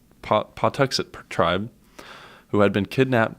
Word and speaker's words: Pawtuxet: named Squanto a member of the these are pronounced pot to say Pawtuxet tribe who had been kidnapped by an English